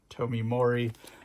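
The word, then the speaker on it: Tomeu Morey: and the same colorist, Tomi Mori. That's how you say his name.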